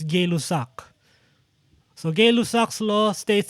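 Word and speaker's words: Gay-Lussac: gay gay luzak's law i'm not sure if actually if it's pronounced gay lux or gay lucks or guy loss it's it's it's a french name and sometimes french have uh different ways of pronouncing it right but uh in some videos i in some videos i check it's gay lusak so gay luck's law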